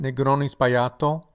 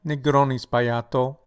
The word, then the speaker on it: Negroni Sbagliato: This is pronounced Negroni Sbagliato. Negroni Sbagliato.